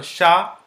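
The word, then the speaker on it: chapeau: many examples just about so say is sh so sha po we have learned this sound so Shao Shao which means hat Shao okay P is for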